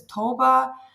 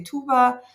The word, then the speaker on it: Tuğba: The way it's written, Tugba with the silent G, it's the Turkish way. So I'm half Turkish, half Greek. But actually, the name comes from Arabic. But of course, like the Arabic pronunciation is a bit different. It's Toba. In Turkish, we say Tuba.